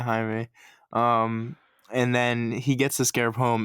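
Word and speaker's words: Jaime: to our main character jie no say it right gives it to Hae um and then he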